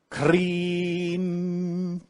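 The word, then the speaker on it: Krim: from sanskrit which we spell k-r-i-m but it's pronounced green you pronounce that mentally while you eat that mantra is related to the divine mother kali who is the destroyer so when you use the mantra cream you're invoking the power of the divine mother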